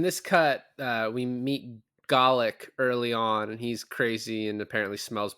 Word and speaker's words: Golic: they were calling him garlic because he smelled bad his name is g-o-l-i-c olic I I I pronounce Golic I watched the movie